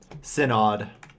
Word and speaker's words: Synod: do I pronounce that? Synod.